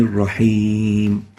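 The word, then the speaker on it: الرحيم: the whispering characteristic so saying Allah and Ibrahim is not right the right way of pronouncing it is a rahmani raheem giving it some length and that's basically what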